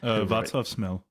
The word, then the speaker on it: Václav Smil: And there's Vaclav Smil. Is that how you pronounce the guy's name? Václav Smil.